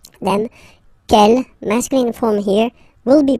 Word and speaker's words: quel: Okay, quel here, feminine singular, will become quel with the S, feminine plural. And the good news is that you will pronounce them the same way. All right, so quel, quel, quel, and quel. Okay, remember that in some